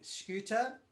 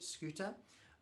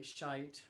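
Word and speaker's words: Schytte: and a couple of interesting pieces here the first one by ludwig scooter which is actually how you say it scuta i know we all say shite or shitta which is really unfortunate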